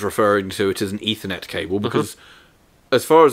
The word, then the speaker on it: Ethernet: We were discussing said product, and I was referring to it as an Ethernet cable, because as far as I'm concerned, the word ether is pronounced ether.